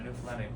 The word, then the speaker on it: Newfoundland: Now a scuff is a dance and a Newfoundland blue star is a beer and it's pronounced Newfoundland, not Newfoundland or Newfoundland.